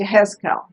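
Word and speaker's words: יחזקאל: I forgot how to say it in Hebrew, and it's Yehezkel.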